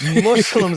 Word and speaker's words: Muslim: They got the Mexicans, let's get the Muslims. Yes! Oh, my God. And it's Muslims, not Muslims.